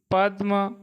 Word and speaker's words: पद्म: नयन, नयन, निम्ब, नीम, निद्रा, नींद, नासिका, नाक, निम्बुक, नींबू, निष्ठुर, निठुर, पक्ष, पंख, पथ, पंथ, पक्षी, पंछी, पद्म, पदम। यहाँ दे आधा बोलेगा, पहले हम पद्म, दूसरे का पदम।